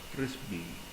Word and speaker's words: FRZB: Frisbee and Dickoff. Shortly after the attributes of Cerberus were demonstrated, two other proteins, that is FRZB, that is we call it as Frisbee, and Dickoff were discovered in the involuting endomesoderm actually.